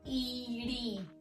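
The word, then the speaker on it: ੲ: Pronounced iri and written like this.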